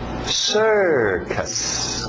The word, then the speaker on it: circus: Circus, circus. Cuidado, português, circo. Embora parecido, não tem muito a ver em termos da pronúncia. Então, cuidado para não falar circus. É sir, aquele velho som de water, sister, circus.